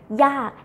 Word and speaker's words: ยาก: will be ยากมาก okay ยาก difficult falling tone ยาก and do not confuse